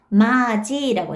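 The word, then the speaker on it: 맏이: 마지라고 했어요. 이거 발음해 보실래요? 제가 아까 발음이라고 계속 강조했죠? 보세요. 디귿이 뭘로 바뀌었어요? 지읒으로 바뀌었죠. 디귿이 지읒으로 바뀌었어요.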